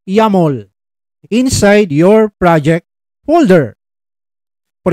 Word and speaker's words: YAML: Extension that yaml or it is pronounced as yumol inside your project folder